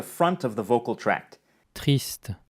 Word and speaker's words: triste: triste, triste, Also notice that the French word ends in a consonant sound t, despite the written word ending in an e, while the Spanish word ends in a vowel sound e.